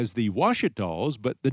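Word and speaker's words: Ouachita: A word that starts with an O but is pronounced as if it were a W? We don't do that very much in English, and when we do, as in Ouija board, it's weird and off-putting, and we look for someone to tell us how to say it.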